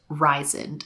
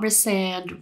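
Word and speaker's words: Rhysand: I didn't expect and the whole pronunciation like do not get me started it is ryen okay it's not resand resand that just doesn't sound like it suits his character Rand Reese I feel like rise and ryzen it just sounds so much better better I'm not going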